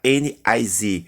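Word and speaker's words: NYSE: Bolsa de Nova York, se escreve NICE, mas se pronuncia NIZ.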